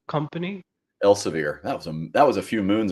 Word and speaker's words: Elsevier: Now you were a director of business technology at, if I'm pronouncing this right, Elsevier Company. Elsevier.